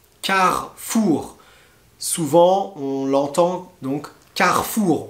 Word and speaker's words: Carrefour: souvent on l'entend donc carrefour on le prononce comme ça carrefour vous avez michelin michelin